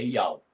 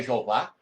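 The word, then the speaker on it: יהוה: Nós vamos mostrar que transliterado, a pronúncia correta é Ial. Não é Jeová, não é Yahvé, não é Jah, não é Iarro, é Ial.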